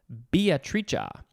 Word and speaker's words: Beatrice: i take that back there is another death or a pronunciation that is another way to pronounce the name beatrice because this is an italian word it is a noun from 1642 biatricia a florentine woman idealized